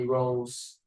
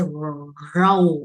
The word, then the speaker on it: rule: We don't say row or rule. Rule là gì? Rule or rule. No, this is U and L. Rule. Rule. This is U. You say U, and then you are gonna curve your tongue like this.